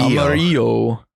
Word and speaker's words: Amarillo: know they're pronouncing it Amarillo. Okay. Sure. How would you pronounce it? Amaro. Amarillo. The two L's makes the Y sound.